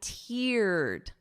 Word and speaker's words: teared: But listen to the pronunciation. I teared up. Ear. So I wrote it out phonetically for you. Ear. So that long E sound.